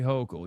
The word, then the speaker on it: Hochul: Say Hochul.